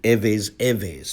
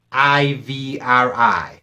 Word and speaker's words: Ivri: In English, you will spell this Ivri, and it's pronounced Erhverh.